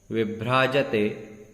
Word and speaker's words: विभ्राजते: देखेंगे, सिंहासने मणि मयूख शिखा विचित्रे विचित्रे विभ्राजते विभ्राजते, ब नहीं पढ़ना है, व पढ़ना है, व विभ्राजते तव वपुः वपुः, यहाँ